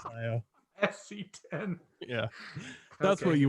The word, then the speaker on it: Scio: People call it like SC10 or Skyo, but it's Scio.